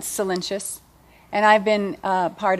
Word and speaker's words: Solyntjes: you probably are wondering how to pronounce my last name right so it's cenus and I've been uh